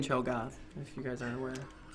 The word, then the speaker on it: Cho'Gath: There's an A in Cho'Gath, if you guys aren't aware.